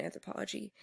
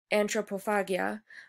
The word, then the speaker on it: Antropofagia: But they wrote this manifesto of anthropology, which reclaimed, not anthropology, Antropophagia, which reclaimed the word